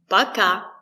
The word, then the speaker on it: Пока: Пока. Пока. The stress is on the second syllable.